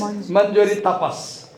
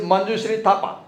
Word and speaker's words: Manjushree Thapa: The receptionist calls her name, and the receptionist cannot pronounce her name correctly. Manjuri, she says, Manjuri Tapas. Her name is Manjushree Thapa. And the lady on the counter says, Manjuri Tapas.